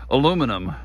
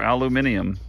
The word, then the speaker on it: aluminium: um cuz it's definitely aluminum or aluminium whichever way you say that um in the defense of those that say aluminium they do spell it